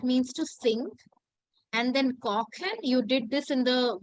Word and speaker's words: kochen: Koshen. Okay, the first I would say pronunciation that I asked you to guess while having ch was kosher. Ko. So Koken. kochen, very good.